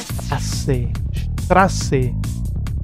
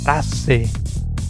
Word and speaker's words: Straße: Tiene un sonido de doble S, de dos S en alemán.